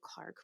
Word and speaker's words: Clarke: I'm just going to call her Clark because I know that that's how you pronounce her last name um and Clark like